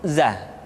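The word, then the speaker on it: ز: Selanjutnya huruf za, diucapkan dengan cara ujung lidah kita berada di antara dua gigi seri bagian atas dan bagian bawah. Za, menyerupai dengan pengucapan huruf Z di dalam huruf Latin.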